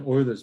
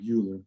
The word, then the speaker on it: Euler: It's pronounced Euler, not Euler, but it's a famous mathematician from yesteryear.